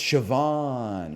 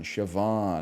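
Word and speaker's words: Siobhan: how they're pronounced okay I just learned CA and and I know Kea okay but I I these are not they don't come second nature to me it's shoban shoban okay shoban he's s of an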